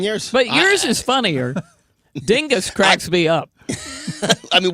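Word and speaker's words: Dyngus: Okay, Joe, I got a message on X that said the Polish pronunciation is dingoose day.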